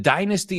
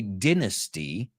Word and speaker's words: dynasty: Toro, which is, the dynasty is called Babito. Oh, that's a funny word. The British say dynasty. The Americans say dynasty.